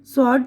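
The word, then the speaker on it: sword: इसी तरह आंसर जवाब, रॉन्ग गलत, स्वॉर्ड तलवार, ठीक है।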